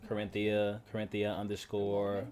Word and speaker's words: Corinthia: It's literally how you say it. Core.